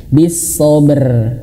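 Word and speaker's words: بالصبر: Bisobr.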